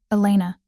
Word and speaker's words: Elena: Elena. He said it carefully with the correct Spanish pronunciation that most people didn't bother with.